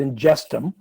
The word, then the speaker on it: Ingestum: what what inges is you pronounce it ingum um is it it